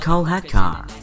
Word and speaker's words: Kolhatkar: It's pronounced Kolhatkar.